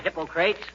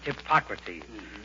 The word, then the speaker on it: Hippocrates: Hi, Hippocrates. If you are referring to the father of medicine, McGee, it's pronounced Hippocrates.